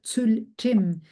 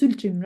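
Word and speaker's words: ཚུལ་ཁྲིམས: by now, probably it's tsulchim. So it's tsulchim, right? So it's two syllables. We have tsul and we have chim. So tsul in English we can write it as Tsul, tsul.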